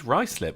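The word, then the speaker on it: Ruislip: Sinatra says it is indeed Ricelip. Well done. He said Ricelip. He said Ricelip. I said Ricelip.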